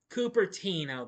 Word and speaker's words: Cupertino: Actually, this film was made in the summer of 1972 in Cupertino, or is it Cupertino? I'm not sure. I mean, no, Cupertino. That's how you say it.